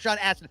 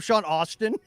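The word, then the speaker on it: Sean Astin: said the wrong date I mispronounced Sean uh a Aston Aston that's right Sean Aston I kept calling him Sean Austin y whoopsie you just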